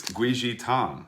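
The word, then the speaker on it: 桂枝汤: So it is guizhi tang, okay? Guizhi tang is actually how you say it in Chinese, guizhi.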